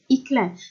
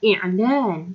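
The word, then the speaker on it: إعلان: Sebab kita sebut i'lan, ya, bukan iklan. Okey, itulah bahasa Melayu kita memang banyak yang base daripada bahasa Arab. Tapi kadang-kadang kita pronounce, kita sebut tu tak macam Arab. Ya. Jadi bukan iklan tapi i'lan, ya, sebut i'lan, bukan iklan.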